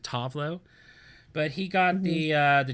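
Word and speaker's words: Tove Lo: The American version is Tovlo, but I think she likes to pronounce it Tovlo.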